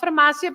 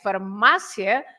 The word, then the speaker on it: farmácia: But so if you say queria, is also another yes, James, but not farmácia because there is an accent, right?